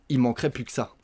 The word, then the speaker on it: il manquerait plus que ça: Mais on dit « il manquerait plus que ça ». On mange plein de lettres.